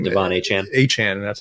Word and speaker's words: Achane: Achane. That's how you pronounce it.